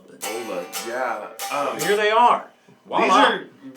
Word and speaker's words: Vola: But it's not pronounced Voila, I don't think. I think it's pronounced Vola. But Vola, yeah.